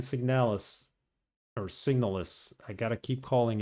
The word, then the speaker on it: SIGNALIS: are you welcome to Haren L signal or signals I got to keep calling it by its right name it's pronounced signals this plays exactly like Silent Hill with a